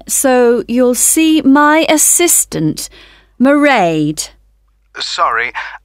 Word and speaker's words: Mairead: I won't be working then, so you'll see my assistant, Mairead. Sorry, how do you spell that? It's M-A-I-R-E-A-D.